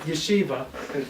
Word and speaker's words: Yeshiva: he pronounced yesi he said no no it's pronounced Yeshiva and then he explained to him what Yeshiva